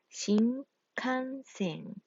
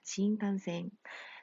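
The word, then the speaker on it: 新幹線: 그래서 우리 교과서에 어느 경우에 미음, 어느 경우에 니은이고, 어느 경우에 뭐 이응, 콧소리인지 상세하게 설명을 했고, 또 선생님이 부가적으로 강의에서 설명해주고 필기했던 부분이 있습니다. 그것들 다 참고해서 익혀두도록 하세요. 알았죠? 따라서 이것의 정확한 발음은 신칸센이 됩니다.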